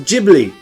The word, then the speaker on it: Ghibli: what guess what we were watching a studio ghibli film and it's pronounced ghibli like i read the katakana and uh i